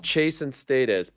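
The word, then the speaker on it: Chase & Status: and Status you see I know how to pronounce things correctly it's Chase and Status uh we had Saul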